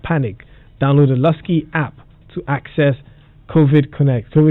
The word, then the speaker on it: Luscii: Download the Lusky app right now and connect to this service. Lusky is spelled Luscii.